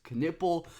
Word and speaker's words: Knueppel: talk about Duke freshman Wing Khan kiple yes pronounced kiple Khan himself said that's how you pronounce it so that's what we'll be going with and kiple is an unbelievable shopmaker one of the best